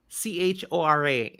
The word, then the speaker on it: Chora: I say Korra. Chora. I always say Korra, like chorus.